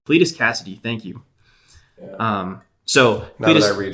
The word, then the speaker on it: Cletus Kasady: pressure I'm almost worried I'm gonna say his name wrong its Cletus Kasady Cletus Kasady thank you so I read it it makes